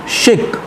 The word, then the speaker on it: chic: Next word, important word, CHIC, शिक.